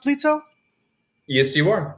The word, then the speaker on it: Plyto: Is it pronounced Plyto? Yes, you are. Plyto.